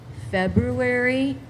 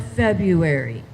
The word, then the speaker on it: February: This word can pre be pronounced two ways. February or February.